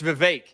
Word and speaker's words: Vivek: recently just last week it's Vivek so apparently he is he does it like cake right the bake cake yeah yeah so that's how